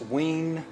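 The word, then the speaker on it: WEN: I bought this Ween, W-E-N, I guess that's the right pronunciation, belt sander some time ago.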